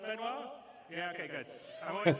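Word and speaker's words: Benoît: CTO benoir be did I say it right benoir yeah okay good I'm always mad with French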